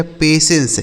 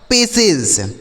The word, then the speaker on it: patience: PATIENCE, तो PA से हो गया बच्चों पे, और TIE से बच्चों से पढ़ा जाएगा। ठीक है, पेशेंस, इसे क्या पढ़ा जाएगा? पेशेंस।